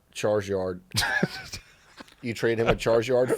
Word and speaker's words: Charizard: You trade him a Charizard for Rhymes with Marzyard.